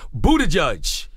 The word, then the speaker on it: Buttigieg: He's running for president in 2020, Pete Buttigieg.